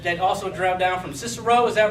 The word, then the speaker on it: Cicero: the cousins that that also Dr down from cisero is that right cisero did I pronounce that right yeah boom there we go I got it right all right cisero uh Chicago so no Cicero Illinois outside of